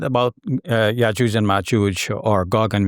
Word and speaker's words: Ya'juj: Yes, and of course you know that our Egyptian brothers and sisters pronounce the Jim of Arabic, which is like a J in English, as a hard G, as in Godfrey, right?